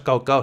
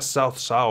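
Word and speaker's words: 曹操: Así que, por ejemplo, Cao Cao no es Cao Cao. Se pronuncia Shao Shao o algo así parecido.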